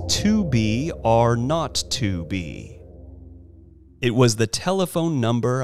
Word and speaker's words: 2BRø2B: were supposed to call the zero in the telephone number he pronounced not the number was 2B are not to be it was the telephone